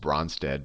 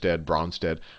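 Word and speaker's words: Brønsted: don't know the correct, I always say just Bronsted, but if you don't have fancy fonts, it's spelled like this: Bronsted-Lowry acid or base, and I'll say, but if you have good fonts, there's usually this little cross in the O. So I mean Bronsted.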